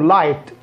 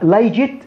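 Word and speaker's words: light: بمعنى انت عندك هنا الضوء اسمه لايت، يعني انا ما انطقها لايجت، لا لا لا لا، الجي اتش في وسط الكلام اول الكلام غير ما ينطق، لكن في اخر الكلمه ينطق فاء.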